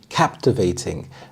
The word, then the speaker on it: captivating: Captivating, captivating. The stress is on the first syllable, captivating.